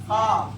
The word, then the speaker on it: ख्वाब: पे लिखोगे जैसे कि ख्वाब, क्या बोलते हैं? ख्वाब में वाव को पढ़ा हमने, ख्वाब में वाव को पढ़ा तो क्या हो गया? वाव हज़फ हो गया, वाव साइलेंट हो गया, तो उसका बोलते हैं वाव मौदूला।